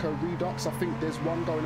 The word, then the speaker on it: Redux: I think it's called Redux. Redux. I still can't pronounce it. I actually thought it was French. I thought it was Redu. But it's not.